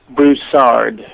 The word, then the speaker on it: Broussard: Say your name, the last name, the way you want it pronounced. Broussard.